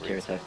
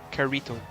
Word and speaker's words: Kirito: Rather than Yeah, it's Kirito. Yeah. No, Carito. Mate, fucking. Like rhymes Lakitu. rhymes with Dorito.